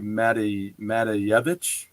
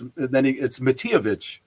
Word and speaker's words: Matijevich: And but I see his last name and I'm like, oh, it must be Matejevich. But no, it's Matijevich.